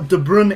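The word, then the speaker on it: De Bruyne: and I'm pretty sure de Brun is is correct but if it's not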